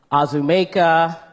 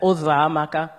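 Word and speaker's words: Uzoamaka: And I would have teachers or anyone, neighbors, try and say my name, and it would be Azumeka, Uzamaka, Uzokuza, any version that they could think of other than Ozamaka.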